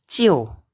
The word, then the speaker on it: 就: Nah, ini bacanya cio.